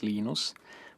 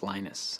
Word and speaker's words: Linus: I speak Finnish it's Lino's when I speak English its Linus and I really don't care how people Prowse my name but Linux is always